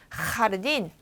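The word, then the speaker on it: jardín: 그렇지만 이 발음이 흐라고 발음된다는 걸 알고 나면 아하하하하 이렇게 웃었구나라는 걸 알 수 있어요. 우리의 웃는 하하하는 하하하하하하지만 여기 소리는요 하하하하하 이렇게 뒤에서 나야 되겠죠. 요 흐 소리나 여기 나오는 히히 소리나 같이 목 뒤쪽에서 나는 소리. 그래서 얘는 하르딘.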